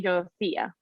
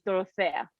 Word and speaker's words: Dorothea: So you can call me Dora, but you can say Dorothea or Dorothea. In UK, they call me Dorothea, That's what I thought. but my name is Dorothea.